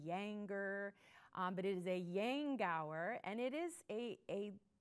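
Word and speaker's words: Yankauer: other little piece up here uh is a Yang Tower and that is how it is pronounced you'll hear people call it a yanker A Yank hour a younger but it is a Yang Gower and it is a a little apparatus that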